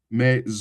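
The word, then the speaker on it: maison: you Me that is just I pronounce it again. I spell it again. M A I S O N. Me.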